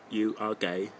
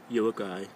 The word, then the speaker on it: Uruguay: It is not you are gay. It's Uruguay.